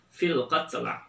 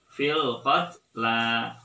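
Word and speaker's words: فِي الْقَتْلَى: Biasanya orang juga cenderung sering membaca salah dengan membacanya fil qatl lagi. Jadi yang termasuk ayat goribah pada surat Al-Baqarah ayat 178 adalah fil qatla. Fil qatla. Ya, jadi jangan dibaca fil qatl, tapi fil qatla.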